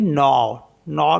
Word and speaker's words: nord: NORD इसमें भी D silent, तो इसको पढ़ेंगे नॉर मीन्स होता है नॉर्थ।